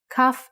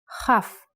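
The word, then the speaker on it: כ: Kaf actually is only pronounced like K when it has a dot inside. Just like bet only has the B sound when it has this dot. Without the dot, it sounds like Ch. Chaf.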